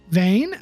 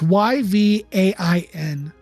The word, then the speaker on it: Yvain: Vane? I don't even know how to pronounce it. It's Yvain. Yvain?